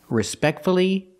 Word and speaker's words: respectfully: then pronounce the U respect see the stress is on the second syllable respectfully so we pronounce the U success again distress is